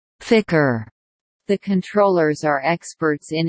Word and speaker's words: FCR: The room where the flight controllers work was called the Mission Operations Control Room, MOCR, pronounced Mo-cur, and now is called the Flight Control Room FCR, pronounced Ficker.